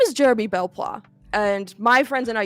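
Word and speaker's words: Belpois: I had to double check that I was pronouncing his last name correctly. He goes, my name is Jeremy Belplois, and my friends and I used to fight Xana years ago.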